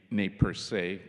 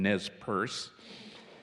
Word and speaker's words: Nez Perce: the same time, and we in North America mispronounce the name, it should be Nez Perce, but I will call them Nez Perce.